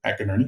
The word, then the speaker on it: McInerney: So that's the way you pronounce it, McInerney.